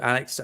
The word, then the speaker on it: Alex: So, and then I've just always liked the idea of calling him Alec, and that generally that is probably how Alex tends to be pronounced in Scotland.